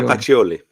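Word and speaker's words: Pacioli: P can you say his name the P picoli pacholi Luka pacholi there we go Luca pacholi um and their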